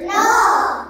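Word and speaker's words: knock: সি কে নক কে এন ও সি কে নক দরজায় টোকা মারা নক করা বা কাউকে ঢাকা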